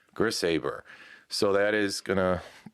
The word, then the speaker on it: Grishaber: But let's start off by pronouncing your last name properly so that we all know. Grisabber. Grisaber.